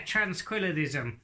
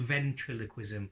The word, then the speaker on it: ventriloquism: Yeah, tranquillism. No, it's called ventriloquism.